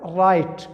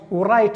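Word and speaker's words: write: د مخه چې دی دغه لفظ ډبلیو دا نه تلفظ کیږي. ګوره رایټ ورایټ به نه وایه ځکه چې د دې تلفظ نه کیږي، دغه سایلنټ دی.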